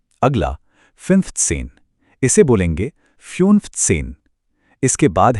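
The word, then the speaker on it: fünfzehn: अगला फिफ्थ सेन इसे बोलेंगे फ्यूनफथसेन। इसके बाद है आखसेन। इसका सही उच्चारण है आखसेन।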